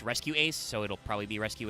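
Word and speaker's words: Rescue-ACE: uh race uh or r dash ace but it's pronounced rescue ace so it'll probably be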